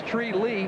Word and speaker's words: Tree Lee: That's number 1, Tree Lee. No, that's not a mispronunciation, folks. That's Tree Lee.